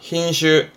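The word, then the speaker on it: 品種: 흰슈. 그렇죠. 인종, 발음은 진슈.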